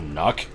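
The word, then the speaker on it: NUK: And, in my mind at least, it's not because of the brand name N-U-K, because I would pronounce that Nuck.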